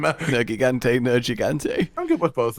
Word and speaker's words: Nergigante: The official Nergigante, and then I was like, okay, I'll start saying it that way.